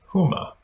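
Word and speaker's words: Hema: introduced a new retail comp uh concept it's pronounced huma and you can find a link to it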